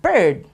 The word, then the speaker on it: bird: you have the word bird the water flies it's bir d and it actually rhymes with the word heard so that's what makes